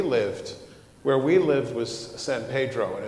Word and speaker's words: San Pedro: but where we lived where we lived was San Pedro and it's pronounced Pedro there uh and San Pedro is a is